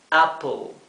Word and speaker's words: apple: en verde donde vemos la fonética con a p e l appel sin embargo intenten eh pronunciarlo Como si no hubiera una letra e como si fuera solamente a p l Sí para que suene más parecido al inglés Apple Apple si se